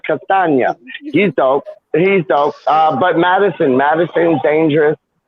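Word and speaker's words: Castagne: Yeah, Castagna, not lasagna, Castagna.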